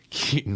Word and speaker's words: Keaton: recent the Batman movie Keaton rhymes with Wheaton it does it's like